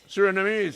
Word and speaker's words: Surinamese: Surinamese.